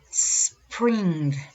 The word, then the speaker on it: spring: Number four, spring. Spring. Remember that this S is not with E, is with S, like a little snake.